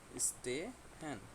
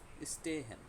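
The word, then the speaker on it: stehen: স্টে হ্যান। হ্যাঁ, এটা তখন আমরা এস এর মতোই উচ্চারণ করবো, জয়ের মতো উচ্চারণ করবো না।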